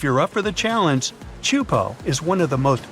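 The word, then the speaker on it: Teahupo'o: Chupo in Tahiti also has some of the heaviest waves in the world, breaking over a shallow reef and creating intense barrel rides.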